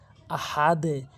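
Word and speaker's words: أحد: হু আল্লাহু হামজা জবর আহা জবর হা আহা অনেকে ভুল বলে আহা ছোট হা এনে উচ্চারণ করে আহা আহা বলতে হবে দাল দুই পেশ দুন আহাদুন অকফ করলে আহাদে অনেকেই যে ভুলটি করে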